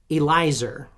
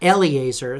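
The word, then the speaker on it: Eliezer: Elizer is how you say that. Not Eleazar. That's a different god.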